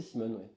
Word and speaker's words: Simon: Simon, quel est ton prénom ? C'est Simon. C'est Simon. Ouais. D'accord. Cinq lettres. Cinq lettres. Voilà. Deux syllabes.